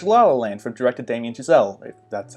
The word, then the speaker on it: Chazelle: I just watch lala land from director Damien Chazelle that's how you pronounce his name and it was pretty great